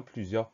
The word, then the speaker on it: plusieurs: Ensuite R et le S à la fin qu'on n'entend pas. Plusieurs, P-L-U-S-I-E-U-R-S.